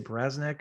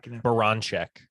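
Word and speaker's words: Baranczak: I mean, and obviously you got the women's basketball coach, Jenny, how do you say, Braznek or whatever? Baranchek. Baranchek. I can never pronounce her name right.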